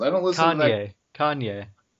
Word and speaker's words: Kanye: Kanye. The N comes before the Y. K-A-N-Y. Okay, I thought it was Kane or what? Con? Con? Kanye!